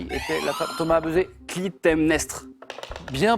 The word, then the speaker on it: Clytemnestre: Clytemnestre. Bien prononcé.